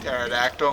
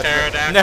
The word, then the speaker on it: pterodactyl: A pterodactyl? Yeah, it's how you pronounce that if you didn't know. Hard P at the beginning.